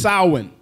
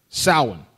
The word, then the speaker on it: Samhain: Or properly pronounced Samhain. Samhain.